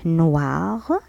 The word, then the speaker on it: noir: بني noir. وإي تنطق و noir.